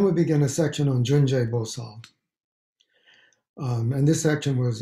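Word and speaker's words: Cundi: We can just read the beginning of the Junje Bosal part. In Sanskrit, it's spelled kundi, as if it's kundi, C-U-N-D-I.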